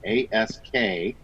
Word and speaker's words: Askilt: Not spelled the way you think, but that's how I'd pronounce it. It's Askilt. Askilt earplugs.